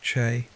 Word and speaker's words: Qi: The vital force known as Qi pronounced CH flowed through all living beings and maintaining health meant ensuring the free flow of Qi without blockages or excesses.